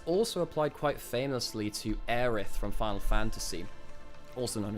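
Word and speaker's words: Aerith: This also applied quite famously to Aith from Final Fantasy, also known as Aerys.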